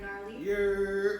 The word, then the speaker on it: Gnarly: My last name starts with a G, and the G in Gnarly is silent.